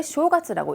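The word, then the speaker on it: 正月: 그래서 본가에는 정월 저 정월은 저 설날 1월 1일이라고 했는데 쇼가스라고 읽고 일본은 이제 신정으로 하니까 1월 1일부터 3일까지가 이제 설날이 되면서 쉬는 쇼가스가 되죠.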